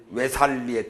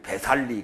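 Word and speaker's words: 웨살리: 외살리에 도착했어. 외살리 근교 웰루바. 그 벨루바 그렇게 돼 있는데 다 외자로 발음한다고 여러 번 얘기했으니까 옛날에는 배살리 그랬지만 요새는 외살리. 옛날식으로는 배살리지만 요새식으로는 외살리.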